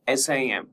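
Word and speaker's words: SIEM: Merging security information management that is SIM and security event management SEM and pronounced SIM with a silent E.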